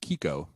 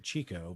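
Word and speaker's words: Chicco: pronounced Kiko in Italian but yeah it's Italian Kiko yes I'm hearing you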